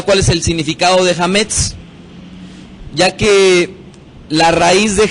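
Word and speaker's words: chametz: levadura, en hebreo para la palabra levadura es hametz. Hametz.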